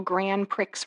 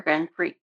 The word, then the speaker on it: Grand Prix: Lucky Jackson Elvis goes to Las Vegas, Nevada to participate in the city's first annual Grand Pricks race. However, Grand Prix, not Grand Prix, the X is silent.